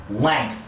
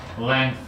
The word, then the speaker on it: length: Now you're putting a G at the end. The reason you're putting a G at the end is that the back of your tongue is touching the back of the roof of your mouth.